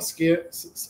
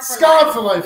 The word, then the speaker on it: Scarred for Life: The Scared for Life, right? Scarred for Life. Okay, I pronounce it wrong.